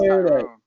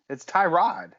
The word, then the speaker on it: Tyrod Taylor: You're just like, that's Tyrone.